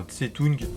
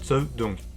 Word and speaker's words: Zedong: Par exemple, comment est-ce que vous prononcez le prénom de Mao? Zedong, comme la version officielle, ou bien Tse-tung? En réalité, c'est Tse-dong. Tong, comme une tongue.